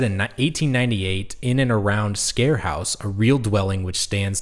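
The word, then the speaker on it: Sker House: any international people out there but it's actually pronounced scare house that's how freakin you know uncultured I am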